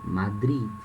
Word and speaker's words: Madrid: Esse último D aqui, ele tem som, Madrid. Em português nós falamos Madrid. O D é mudo, né? Madrid. Mas em espanhol tem som, Madrid. Tem um som bem curtinho.